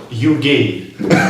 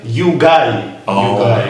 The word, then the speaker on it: Stasiugay: My surname is not you gay. I'm you guy. you It's guy. right.